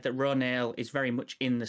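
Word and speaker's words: Ronal: new character, we've discovered that it is actually pronounced Ronail, which is kind of strange, but I guess she's a Na'vi character and they pronounce things differently from us.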